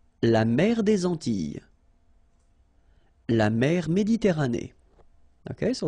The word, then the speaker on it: Antilles: So here it's quite interesting because, well, you've got this E and then double L, S. Okay? So final S and E, really you don't pronounce them. So you get this E sound. Antilles. Okay?